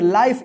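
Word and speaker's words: life: तो इसको क्या पढ़ेंगे एल आई एफ ई इसको क्या पढ़ेंगे लाइफ इसको लिफ मत पढ़िए या लाइफ है मत पढ़िए क्या पढ़ेंगे इसको लाइफ क्योंकि इस आई का आई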